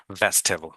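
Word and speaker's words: vegetable: বাট এখানে ই উচ্চারণ হবে না, ভেজিটেবল।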